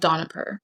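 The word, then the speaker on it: Dohnavur: And so there's a story about this one little girl named Mimosa who went to how do you pronounce it? Donipur. It's called Donipur.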